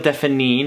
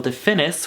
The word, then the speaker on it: Define: pencil called loral Defan apparently I've been saying it wrong since I've been using it it is loril Define not loril definis which is what my American brain red when I saw it and I have worn